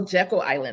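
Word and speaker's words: Jekyll Island: of Ja Island Jac island is an island it's spelled j e k y l l oh jeo Island okay jeo Island so jeo island is in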